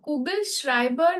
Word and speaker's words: Kugelschreiber: No, Kugelschreiber, this is SCH. That is what makes it sh.